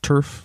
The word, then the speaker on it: TERF: you heard the term turf I have heard the term it's trans exclusionary radical feminist and for those listeners who haven't heard the term turf it rhymes with nerf it may not have